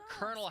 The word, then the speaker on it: Colonel: know why does the word Colonel have an L in the middle of it when there's an r in the pronunciation true for instance after